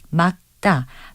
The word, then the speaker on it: 맑다: 그리고 막다를 말다로 잘못 발음하는 경우도 있는데요. 겹받침 리을 기역은 닭처럼 단독으로 쓰이거나 막다나 박다와 같이 자음 앞에 쓰일 때는 기역만을 발음해서 막다, 박다로 발음한다는 것 기억해 두시면 좋겠습니다. 바른말 고운말 아나운서 변희영이었습니다.